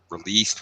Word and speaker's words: released: contains the word danger from them good yeah pronounced the same way as danger endangered ah that a what else are released released with a tea sound at the end back